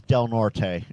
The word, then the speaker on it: Del Norte: Well, you know, I come from a Latin family, so it's Del Norte. You know, that E gets pronounced.